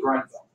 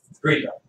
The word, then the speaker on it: Greenville: Just need to know Treaty of Grenville. Greenville. It's actually pronounced both ways.